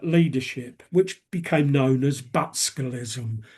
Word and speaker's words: Butskellism: which became known as Butskellism. Butskellism came from the first syllable of the Conservative Chancellor Rab Butler and the last syllable of his Labour counterpart, Hugh Gaitskell. So, it became known as Butskellism.